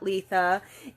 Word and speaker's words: Litha: um known as Letha sometimes I've heard it pronounced litha but I was taught Letha and that word comes